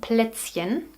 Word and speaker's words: Plätzchen: And I know that hen is very difficult to pronounce for you. For English natives. So we call them Plätzchen.